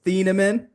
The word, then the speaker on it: Thieneman: It's Thieneman.